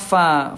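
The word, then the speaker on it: ف: Huruf fa ini kan bibir dalam bagian bawah disentuhkan dengan ujung gigi seri atasnya fa.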